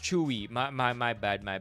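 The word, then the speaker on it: Tzuyu: Oh, it's pronounced Chewy.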